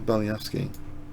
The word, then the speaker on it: Belyavsky: So Alexander Belyavsky. Alexander Belyavsky. Belyavsky. Alexander Belyavsky.